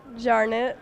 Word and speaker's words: Jarnot: So we'll start with the player next to me, and that's Alaina Jarnot, Jarnot, or how do you pronounce it anyway? Jarnot. You go by Jarnot.